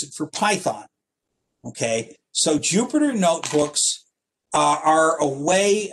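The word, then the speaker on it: Jupyter: three is called the Jupiter notebook Jupiter is spelled j py t r uh ju stands for a language called Julia py for Python and obviously r for r that's what this came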